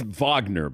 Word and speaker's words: Wagner: you can't rewind it I think it's Vagner by the way not I mean let's pronounce it correctly you know European style European style so so for